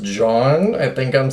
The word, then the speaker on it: jawn: word and it's pronounced John. I think I'm saying that right. It's more kind of drawn out than like the name John.